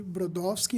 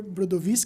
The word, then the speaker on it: Brodowski: engenheiro que se chamava Alexandre Brodowski ou Alexander brodovi porque ele era polonês Ah colocaram o nome